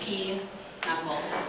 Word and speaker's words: pinochle: The game is pinochle, pronounced P-knuckle, according to my grandmother.